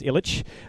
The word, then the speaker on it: Ilic: back to that but my last name is ilik right I say ilik the proper way to say it is Ilitch but I don't identify